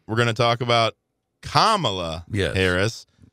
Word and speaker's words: Kamala: When we come back, next segment, we're going to talk about Kamala Yes. Harris. Like the comma.